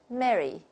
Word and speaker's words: Merry: If we take RP, the British model, and we pronounce the three words very differently. Listen, Merry, the Merry Christmas. And then the second one is a marry. So we can see the difference. And then the third one, if it's a name, a diphthong occurs here, and we say Mary, Mary.